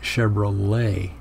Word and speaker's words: Chevrolet: with l.a white and so you know to pronounce it chevrolet and that happens again there's more lyrics right